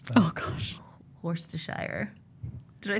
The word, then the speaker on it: Worcestershire: Worcestershire. Did I say it right? Worcestershire. Yeah. Worcestershire. Worcestershire, yeah, okay. Yeah, Worcestershire. Yeah. Worcestershire sauce. Worcester sauce. Yeah. Yeah, that's what my aunt calls it. Worcestershire sauce.